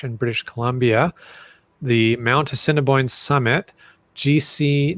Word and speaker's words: Assiniboine: How do you say that? Assiniboine. Assiniboine. Oh, so Cinnabon.